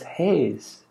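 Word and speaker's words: Hayes: bear mention it again my family name is haze H a why e s and it rhymes with haze H a Z the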